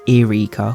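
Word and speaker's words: Yrica: very kindly replied that in his head it's Eureka, which is the only phrasing I didn't think of.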